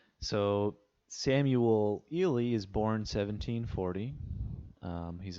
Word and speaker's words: Ely: on to samuel ely just a quick note on pronunciation i've heard it said eely however you know i i am aware that some people um prefer ellie or eli as far as i know the correct pronunciation of that surname is ely and we begin this